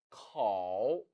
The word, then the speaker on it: 口: 口口 절대 코로 발음하지 마세요. 중국어에는 오라는 모음이 없습니다.